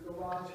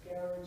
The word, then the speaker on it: garage: The G in garage versus garage is not so predictable, but those are pretty predictable.